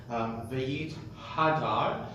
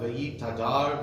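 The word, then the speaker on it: ויתהדר: It's a common mispronunciation among those who aren't very, very well aware of it. V'yit hadar, v'yit aleh, v'yit halal. Right, so it sometimes comes up v'yit tadar, v'yit taleh, v'yit talal, and you haven't made a distinction.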